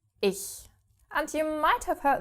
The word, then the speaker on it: ich: And yes, you don't only have this after the E, but also after the I. So, ICH becomes ich.